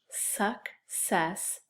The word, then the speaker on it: success: You know, this actually has two C's, and I think when I say it, we're going to hear both sounds. The first syllable is suck, and the second syllable is s, success, success. How about this one?